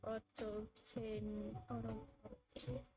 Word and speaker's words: autotainment: Also, autotainment is pronounced as entertainment, but replace enter with auto.